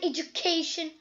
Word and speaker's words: education: Educate and education. Yes, educate. So ma'am, it was here the first syllable. First syllable, but when it comes to education, the penultimate syllable as it ends with TION.